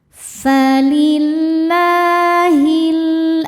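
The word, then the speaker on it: فَلِلَّهِ: Falillahi. Lam jalalah dibunyikan secara tarqiq sebab harokat sebelumnya kasroh. Cara baca lamnya ini adalah dibaca dengan tipis. Falillahi.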